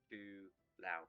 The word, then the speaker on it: Twilao: Twilao. How do you pronounce it? Chulao. Twilao. Okay. Twilao, please. Twilao. Like Kung Lao, but with a T.